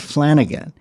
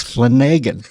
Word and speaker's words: Flanagan: and he says, no, it's not Flanagan. He says, there's no other way to really pronounce Flanagan except for a pathological liar. He makes the A long. It's Flanagan.